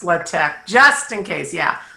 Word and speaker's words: LaTeX: currently yeah i better give you the other pronunciation of it people usually call it latex and as soon as i say that everybody's going oh yeah i've heard of latex it's actually pronounced libtech just in case yeah how do you know